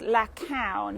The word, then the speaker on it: La Caune: um but we're actually in a vineyard called la coun if anybody's got banane brad if anybody's got their tea towel have a look at a vineyard called la count that's easy to say it's like a cow